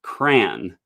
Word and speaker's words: crayon: tint um which is how i pronounce the word crayon as in rhymes with man uh one syllable and there's one other